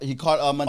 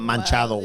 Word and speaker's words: Machado: He caught Machado's. Oh, yeah. He caught Machado's home run ball. Machado, not Manchado.